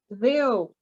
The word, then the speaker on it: Ye: pub's name are misunderstood in the modern day yeo is properly pronounced theo and trip refers to a stop on a